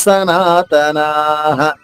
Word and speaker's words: సనాతనాః: నా దీర్ఘంగా చెప్పిన తర్వాత విసర్గ ఉచ్చారణ హ హ్రస్వంగా చెప్పాలి.